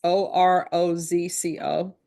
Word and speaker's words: Orozco: There is to be no contact with Dominic Orozco, Diego Orozco. And I know I'm mispronouncing that. It's Orozco.